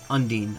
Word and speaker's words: Undine: Undine, okay. So that is the canon pronunciation.